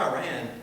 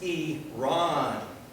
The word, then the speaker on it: Iran: My best listening was when I heard pronunciation of a country's name, Iran. It's not Iran, it's Iran, to be respectful to that Persian distinction.